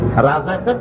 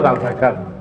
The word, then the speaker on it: রেজাকার: রাজাকার তো শব্দটা রাজাকার, শব্দটা হচ্ছে রেজাকার। এখন এটাকে বাংলায় উচ্চারণ করতে গিয়ে বাংলায় এটা রাজাকার হয়ে গেছে।